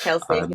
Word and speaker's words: Kelce: Travis Kelce? It's Kelsey.